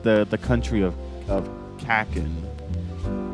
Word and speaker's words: Kakin: the country of of kakin I think I guess that's how you pronounce it kakin yeah correct Us in the comments